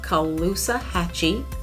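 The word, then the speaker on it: Caloosahatchee: think you're a tourist you gotta say the name of this river right it is the kaluza hatchy river now this river was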